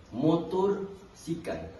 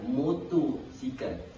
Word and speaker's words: motosikal: Motor sikal. Sebenarnya dekat sini dia bukan motor sikal. Tetapi dia adalah motosikal. Dia tiada huruf R di situ.